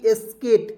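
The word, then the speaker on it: skate: उसके बाद देखते हैं एस के ए टी एस्केट क्या पढ़ेंगे दोस्तों एस्केट इस से ज्यादा स लिखेंगे के से क लिखेंगे टी से ट लिखेंगे और अंतिम में ई है जी इसके लिए हम लोग ए की मात्रा का प्रयोग करेंगे क्या पढ़ेंगे एस्केट और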